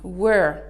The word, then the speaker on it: were: Attention à la prononciation, were. Je sais qu'il y a beaucoup de confusion dans la prononciation de were, ok? Il faut bien faire la distinction entre where, qui signifie où, et qui s'écrit W-H-E-R-E, et la prononciation de were. L'auxiliaire be au pluriel au prétérit, W-E-R-E.